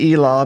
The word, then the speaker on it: Elah: Now, I'm going to pronounce it Elah because we're from Cherokee County, and that's the way we pronounce it here in Tahlequah, Oklahoma. Now, the Valley of Elah